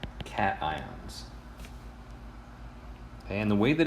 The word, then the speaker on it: cation: positive ions are called cations and the way that it's spelled it's easy to assume that it's pronunciation that's incorrect this is pronounced cation okay like cat ion and if you're ever